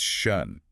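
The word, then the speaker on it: schön: See, most Americans say shun or maybe shun, but it's shun. You need that tight O shape.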